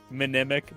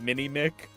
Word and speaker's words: Minimic: As long as we put a pronunciation guide on this supplement that says minimic, not mini.